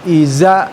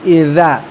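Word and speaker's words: إذا: Huruf yang secara makhraj pengucapannya adalah ujung lidah dikeluarkan dan digigit ya tidak terlalu banyak. Dza dza ya. Ini dza lidahnya dikeluarkan dan digigit. dza ya dza dzi ya jadi bukan iza tapi idza dza dza dzi ya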